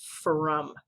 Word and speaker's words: from: One of them is the word from, because we hear a sound, like a short U sound, but it's not made by the letter U, it's being made by the letter O.